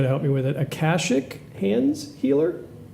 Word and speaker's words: Akashic: I'm gonna murder this pronunciation, so you got to help me with it. Akashic hands healer. Akashic?